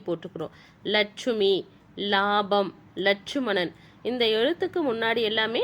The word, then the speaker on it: இலாபம்: ஆனா அந்த இய வந்து உச்சரிக்க மாட்டாங்க. இலாபம் அப்படின்னு படிக்க மாட்டாங்க. லாபம் அப்படின்னுதான் படிப்பாங்க.